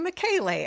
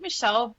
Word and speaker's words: Michele: But yeah, my name uh you would pronounce it Michelle, but it it does cause naturally it does cause confusion because it's Michelle with one L.